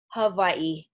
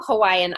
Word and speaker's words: Hawaii: in the islands of Hawaii did I say it right I hope I said it right the w is a V correct okay so what we